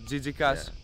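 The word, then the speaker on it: τζίτζικας: say crickets in greeka remember that jika plural Jas singular almost close as TI pass but not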